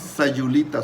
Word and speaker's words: Sayulita: The correct one is Sayulita.